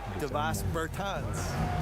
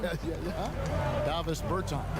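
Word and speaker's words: Dāvis Bertāns: Oh, well now, at this point in my life, it's Davis Bertans. Is that how you say his name? Davis Bertans.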